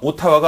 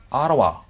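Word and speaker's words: Ottawa: 하나 뭐냐면 오 소리가 강세를 받으면 우리 생각엔 오로 날 것 같지만 아로 소리 냅니다. 그래서 캐나다의 수도가 오타와가 아니라 아라와 이렇게 발음해 주셔야 돼요.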